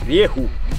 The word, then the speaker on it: Rieju: Allora, Rieku si pronuncia così come l'ho detto io, Rieku. È una casa spagnola, quindi la pronuncia effettivamente non è delle più semplici.